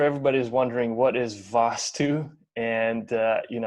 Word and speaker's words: Vaastu: I'm sure everybody is wondering what is Vaastu, and how we can incorporate it into the design of our home to make the energy flow better.